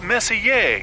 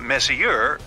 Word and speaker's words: Messier: Pronounce Messier, not Messier, as in, is your room messier than mine?